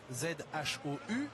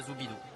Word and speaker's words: Zhou: Ça s'écrit Zhou, Z-H-O-U, mais ça se prononce Zhou. Donc ne soyez pas surpris lorsque l'on prononce Guan Yu Zhou, c'est la bonne prononciation, pardon Jacques. Et pas Zoubidou.